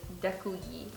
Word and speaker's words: děkuji: Thank you is děkuji. Děkuji. Děkuji. Děkuji. Děkuji. And Děkuji. the I is like very like pronounced, like it's like děkuji.